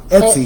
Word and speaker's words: Etsy: Some people have different websites, different affiliates with Amazon, name some other ones, with Etsy, eBay, and you need that Etsy. It's pronounced Etsy.